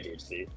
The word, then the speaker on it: DHC: pronounce your name um a lot of people have enjoyed your pronunciation of dish but I I go by DHC DHC okay yeah yeah what